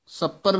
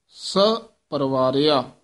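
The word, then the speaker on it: ਸਪਵਾਰਿਆ: मोह थ विश्राम है मार तु सपर नहीं बोल देना आम पाठी सिंह सपर बोल जाने गलत उच्चारण है स पवारिया स दे विच डैश देनी है सहत परिवार द स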